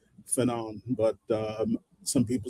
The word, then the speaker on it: Fanon: but I've always said Fanon. But some people say Fanon, Fanon. I've heard. As far as I ever got with French pronunciation, I believe the accent is supposed to be on the last syllable, but okay, who knows?